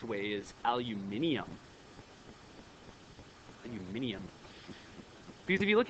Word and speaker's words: aluminium: end inum but then aluminum no it's aluminium that's the right way to say it no one says it like that so you don't